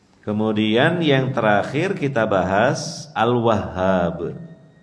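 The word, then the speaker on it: Al-Wahhab: kita bahas Al wahhab Al wahhab ini pengucapannya Memang agak sulit karena huruf H di tasydid kemudian dikasih Alif jadi Sudah tasdid ditekan kemudian dipanjangkan sedikit tapi kita berusaha untuk mengucapkannya dengan benar karena nama Allah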